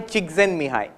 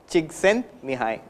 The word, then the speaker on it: Csikszentmihalyi: If you learn how to spell the name and pronounce it, I'll tell you. It is Mihai Csikszentmihalyi. Mihai Csikszentmihalyi.